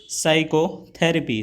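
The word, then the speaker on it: psychotherapy: Which letter is silent in साइकोथेरेपी, तो जो आपका पी है वह साइलेंट होता है, तो ऑप्शन सी सही हो जाएगा।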